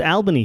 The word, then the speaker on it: Albany: But it is pronounced Albany here. Yes. Oh, is it? Yeah, they don't say Albany.